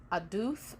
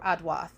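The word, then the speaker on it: עֵדוּת: So testimony is the Hebrew word aduth or adwath. It depends on if you consider the ua to be a ua or a wav. But adawath or aduth or aduth is how you would pronounce that.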